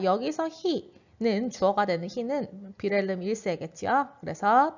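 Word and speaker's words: Wilhelm: 그 다음에 윌헬임이라고 되어 있는데 독일에서는 이 W를 우 발음이 아니라 브 발음으로 읽습니다. 그래서 빌헬름 1세라고는 여러분들이 지나가다 들어본 적이 있을 거예요.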